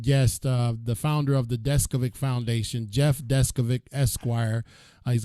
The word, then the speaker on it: Deskovic: And it kind of is spelled like it sounds because I've been working on his name all day. Deskovic, just like that.